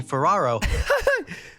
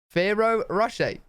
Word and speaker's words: Ferrero Rocher: Made by Italian candy company Ferraro. Wait. Ferraro? Ferraro? I hope this is one of those things where I'm not saying it wrong and I think he's saying it wrong. Ferrero Rocher. Not Ferraro.